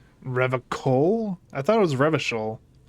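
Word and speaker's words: Revachol: I thought it was Revishol. He pronounces Revacol with a hard K.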